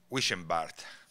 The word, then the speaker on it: Wischenbart: And not to forget Rudiger, and I might pronounce his name wrong now, last name, Wischenbart. Perfect. Thank you very much for